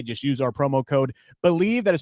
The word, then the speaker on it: BLEAV: Just use our promo code BELIEVE. That is spelled BLEAV.